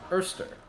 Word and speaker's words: oyster: On the topic of oyster crackers, for those of you who don't know, in New Orleans, they pronounce the word oyster, Erster.